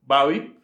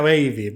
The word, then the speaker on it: Babi: Porque el señor, que en este caso era el William Babi, no lo Se vayas- pronuncia como. Se escribe Babi con Y, se que en escribe inglés. Babi como inglés. Que en inglés se pronuncia baby.